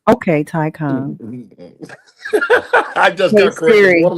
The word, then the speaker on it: Taycan: And the Porsche Taycan. Okay. Mm-hmm. I'll take the Taycan over that any day. Well, I'm gonna correct you. I get to correct you. It's called a Taycan, man. Okay, Taycan.